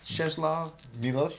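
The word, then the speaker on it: Czesław Miłosz: we are all called Milos yes CH cheslav cheslav Milos you I'm sure you pronounce it way better than I thank you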